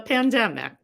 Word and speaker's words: pandemic: prospect especially since the pandemic there are two words that are frequently mispronounced because of the emphasis and those two words